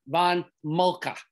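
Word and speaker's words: Helmuth von Moltke: commander is a gentleman by the name of helmuth von mulcah his you pronounce his vein and his name excuse me von mulcah that's how you pronounce it and we want to always associate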